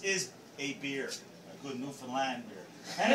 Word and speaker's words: Newfoundland: a beer a good newfoundlander and it's pronounced newfoundland not newfoundland or new finland newfoundland is the oldest